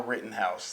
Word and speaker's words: Rittenhouse: on tv i'm sorry i kept getting his name wrong his name is kyle rittenhouse that is the shooter who was defending himself